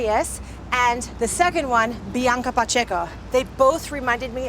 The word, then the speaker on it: Bianca: enjoy those videos now I've heard people say Bianca like with like a why in there somewhere instead of Bianca and then don't mean